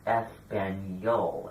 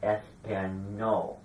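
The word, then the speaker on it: español: word Spanish foreign you realize that I was pronouncing this word espanol and not ESPN no when there's an active Mark over the end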